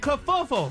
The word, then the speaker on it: kerfuffle: It's damn it, kerfuffle. Kerfuffle. Her. Oh, what I said? Yeah. Kerfuffle. Yeah. God. Look at the phonetic breakdown of it. It's kerfuffle. Tell them to stop buzzing.